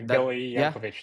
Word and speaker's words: Gili Yankovitch: So today I'm joined with by Gili Yankovitch, right? I don't know if I pronounce yet. Gili Yankovitch.